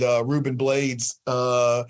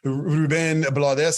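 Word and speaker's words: Rubén Blades: And then one last thing I'll say, I went to this thing with Ruben Blades, Ruben Blades, I think is how you pronounce it.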